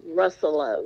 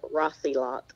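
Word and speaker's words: Rosselot: is D Russell Steve russello it's yeah it's r-o-s-s-e-l-o-t but it's pronounced russello instead of Rossi lot all right so it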